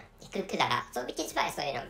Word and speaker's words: Kudara: so the name is the pronunciation of the country is said to be, or has been said to be Kudara, so which is why so we learn the name of the country as Kudara.